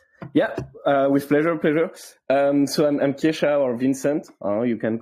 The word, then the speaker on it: Kesha: Kesha, meanwhile, first of all, am I pronouncing your name correct? Yeah, Kesha is good. It's good. You can say Kesha, perfect.